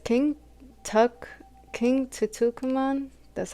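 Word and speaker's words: Tutankhamun: King Tutukuman, that's how you say it.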